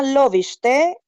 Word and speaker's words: Lovište: gracias por la invitación Bueno la ciudad se llama loviste es un pequeño pueblito